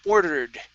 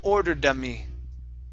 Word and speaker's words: ordered: ordered me to okay now in between ordered and the M here you're adding an extra sound saying order D okay you want to